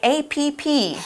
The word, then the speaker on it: app: You might know it by APP. That's how you spell it. That's how they say it here, but we call it an app.